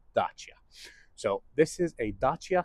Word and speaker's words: Dacia: So, yes, it is pronounced Dacia. It's not DEIA, it's not Dacia, it's Dacia.